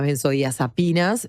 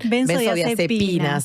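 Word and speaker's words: benzodiazepinas: Eh, primero hablemos de las Bensodías Apinas. Eh, no lo no lo estoy pronunciando bien. Benzo deepinas, ahora sío.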